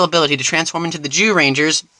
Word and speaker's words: Zyuranger: show that it was adapted from, Kyoryu Sentai Zyuranger. Hey, don't look at me like that, it's how it's pronounced.